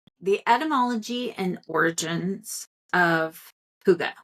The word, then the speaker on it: hygge: atmology and origins of Huga which is spelled h y g g e it's not spelled the way it sounds comes from the old Norse